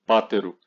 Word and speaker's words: Patero: O sobrenome patero geralmente é pronunciado como patero, com a tônica na segunda sílaba. No entanto, a pronúncia pode variar dependendo da região ou da preferência familiar. Então, também pode ser dito como pátero.